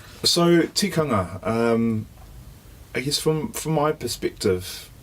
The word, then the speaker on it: Tikanga: So, Tikanga. Looking to, spell that word.